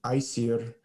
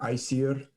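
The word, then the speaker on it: Æsir: It was the first battle is between the Aesir gods, or actually I'll pronounce it Aesir.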